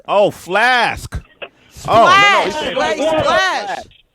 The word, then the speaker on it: Splash: I thought he said Flash, like Splash. water. Flask. Oh, Flask. Splash.